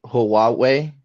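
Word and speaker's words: Huawei: rist CU they were using the Chinese phone hawei I believe it's pronounced but mhm that phone is like it's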